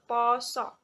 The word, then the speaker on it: pasa: Penulisan pasa menjadi pengucapannya menjadi poso.